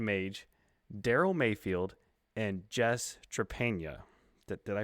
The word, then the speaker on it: Trepanier: HP's series, Titan Mage, Daryl Mayfield, and Jess Trepanier. Did I pronounce it right? Close. Trepanier.